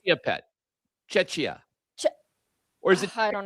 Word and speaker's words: Czechia: He assisted on the goal that gave Czechia. Gave Czechia. Now you have me confused. Is it Czechia or Czechia? No, it's. I think it's. Now I'm in my own head about it. I think it's Czechia.